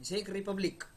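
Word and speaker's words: Czech Republic: Czechoslovakia जिसको बोलते हैं जेक रिपब्लिक। अब जेक में सी जो है वह साइलेंट है।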